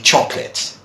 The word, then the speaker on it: chocolate: version would you read so that would be chocolate okay chocolate all right so another one oh